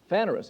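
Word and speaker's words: φανερῶς: word openly lance help me pronounce this please vanerus is that close enough phanerous is how it's pronounced it's number 53 18 in the strong's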